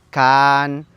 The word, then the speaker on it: Can: Y su pronunciación correcta en la lengua maya debería de ser Can, Can, Can, serpiente.